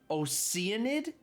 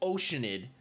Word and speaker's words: Oceanid: this for a second that's supposed to be pronounced oenid get out of here it's oceanid don't even were it not